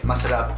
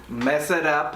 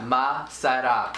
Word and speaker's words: masarap: You say masarap yung pagkain. Masala. Masarap. Mess it up. Masarap. It sounds like you're saying mess it up. No. Sa. Masarap.